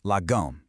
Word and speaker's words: lagom: So, what is logum exactly? First off, you say it like lum.